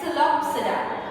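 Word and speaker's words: Psilopsida: The P over here is silent, right? So it is pronounced as Celopsida.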